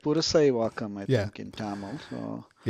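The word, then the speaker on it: Purasaiwakkam: Did you say Percywakkam or do you say like so we do it the Anglo way, which is Pursawakam. yeah. Pursawakam, yeah. It's like Purusaiwakam, I Yeah.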